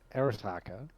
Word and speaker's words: Arasaka: Did you mean Arisaka?